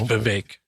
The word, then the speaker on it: Vivek: I think it's Vivek, like cake. Is it Vivek? It's spelled Vivek, Vek. So I know, but he's Vivek. Brown and he's Indian, so it's Vivek. What I was pronouncing it Vivek, and people were telling me